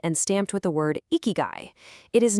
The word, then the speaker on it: ikigai: First off, it's pronounced ikigai, and the true definition is astonishingly simple.